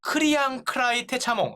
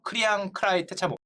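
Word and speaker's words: Kriangkrai Techamong: 태국인 크리앙 크라이 테차몽. 이름 어렵습니다. 제가 이거 영어로도 확인해봤는데 맞아요. 크리앙 크라이 테차몽. 자꾸 발음이 크랑 헷갈리는데 크리앙 크라이 테차몽이 사우디 왕자 부부의 청소부로 일하고 있었습니다.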